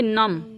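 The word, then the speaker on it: numb: NU यम बी, तो इसको पढ़ेंगे नम। क्या पढ़ेंगे? नम। और बी क्या हो गया? साइलेंट हो गया।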